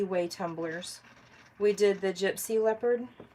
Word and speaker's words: Gypsy Leopard: We did the Gypsy Leopard. Hey, did y'all hear that? I said it right this time. I swear every time I say Gypperlepsy.